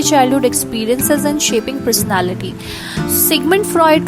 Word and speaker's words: Sigmund Freud: जो नाम है, people call it Freud, people call it Freud, but this is Sigmund Freud.